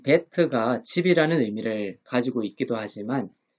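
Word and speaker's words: ב: 그리고 영어의 비 발음 음가를 가지고 있어요. 우리나라로 생각하면은 비읍이라고 생각하시면 되겠습니다.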